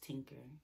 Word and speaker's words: TTinker: tiara like the crown my name on here is Tinker yeah I know the first T is silent it's my nickname um